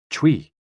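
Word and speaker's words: chui: exhale which is associated with the lungs c-h-u-i pronounced like tui with a forceful exhale which is also associated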